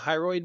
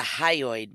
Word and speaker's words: hyoid: The hyroid bone. It's the hyoid bone. The hyoid. Wow, I'm not. Do it. Do it. I've pronounced the hyroid bone. Hyoid. Hyoid. Hyoid.